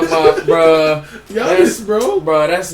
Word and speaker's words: Giannis: Giannis, bro. Bro, that's not my pick, bro. You picking Giannis? Giannis. You put Yanis. Bro, the G is silent.